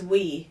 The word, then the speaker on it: oui: oui, and J A, It's we. We? But I think it's spelled oui oui MY MIDWEST WEE WEE.